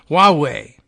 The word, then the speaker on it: Huawei: District of New York of, how do you pronounce this again? Huawei.